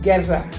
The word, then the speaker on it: Guerra: And so but Guerrera is fine. Guerrera is fine. But that's not how you say it. Learn how to say it. Learn how to roll your R's, people.